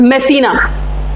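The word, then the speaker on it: Messina: Greece के बाद हम कहां जाएंगे यहां पे मेसना मेसना एक इटली का इंपोर्टेंट पोर्ट है ठीक है अगर स्पेलिंग आपको नहीं दिख रही तो दैट इज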